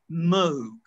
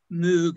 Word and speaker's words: Moog: mention the book actually by the way it's pronounced moog robert moe the moog electronic was not new many people in britain i thought it was moog a made-up word for the sound move but